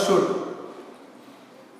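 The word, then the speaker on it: should: वुड और shawl का शुड। इसमें एल जो है ना, एल लेटर साइलेंट होता है, तो इसको वुड और शुड नहीं पढ़ेंगे, इसको वुड और शुड।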